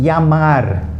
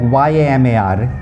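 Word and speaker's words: llamar: Okay, so double L. As in yamar. Okay, it sounds like Y-A-M-A-R. Yamar. Yamar is to call.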